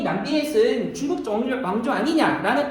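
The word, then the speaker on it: Nam Việt: 자, 남비엣, 이거 베트남 말이지만 한자 표현으로 쓸 수 있습니다.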